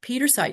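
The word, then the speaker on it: Pietersite: So Petersite it's how do we spell this? P I E T E R S I T E. It's P I E. Peter, but it's pronounced Peter site.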